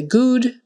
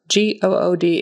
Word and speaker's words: good: u in the middle even though it's spell oo that's how we um spell it sometimes like good book look so good you might be tempted to say good but it's not now if it had an m on the front it would be mood with an U but not this word g o o d is good uh make sure you